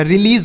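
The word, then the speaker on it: release: तो बड़ी की मात्रा एस ई से स नहीं लिखेंगे ज लिखेंगे क्या लिखेंगे स नहीं लिखेंगे ज तो यह रिलीज हो गया और रिलीज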